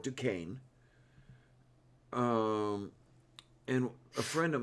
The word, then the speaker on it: Duquesne: is a burrow um that is pronounced as the french wood it is the borough of duquesne um and a friend